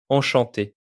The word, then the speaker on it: Enchanté: On prononce ces deux mots exactement de la même manière. Enchanté.